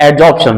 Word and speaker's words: adsorption: एब्जॉर्प्शन में क्या होगा, ए बी एब्जॉर्प्शन, ए डी एडजॉर्प्शन, right. तो प्रोनाउंसिएशन का ध्यान रखें, एडजॉर्प्शन और एब्जॉर्प्शन।